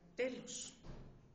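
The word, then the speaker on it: τέλος: En el griego, sin embargo, es más vívido, pues una parte de la palabra tetelestai es la palabra telos. Así se pronuncia en griego.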